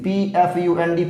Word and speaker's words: Pfund: bracket के बाद आपका आता है fold series, PFUND, P silent है और इसके लिए वेवलेंथ